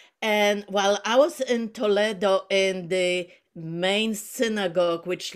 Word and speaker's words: Toledo: while I was in Toledo, that's how the Spanish pronounced, not Toledo. And while I was in Toledo in the main synagogue,